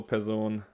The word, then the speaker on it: Person: one and person two actually it's the same in german pearson we just pronounce it differently so pezone eins person one person